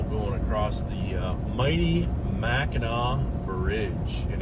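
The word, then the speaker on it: Mackinac: Going across the, uh, mighty Meno Bridge. And it is pronounced Meno, folks, not Minak.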